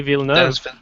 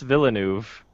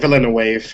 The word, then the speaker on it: Villeneuve: think his pronunciation pronunciation of his name dennis villeneuve yeah i remember that yeah i used to say like villainous i don't know the